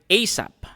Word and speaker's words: ASAP: letters a s a or as one word like ASAP another finding of gary